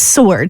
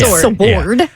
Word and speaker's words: sword: right now and it's s o r d is how you pronounce it it's sword not sword but so he said